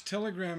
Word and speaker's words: telegram: Notice telegram is 3 syllables, but there's an accent still on the last syllable, telegram.